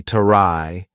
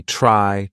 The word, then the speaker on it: try: in English for example the consonant blend TR is going to be more of the CH sound combined with r so for example TR r y is not going to be trai it's going to be try try travel not the true T sound try travel if we're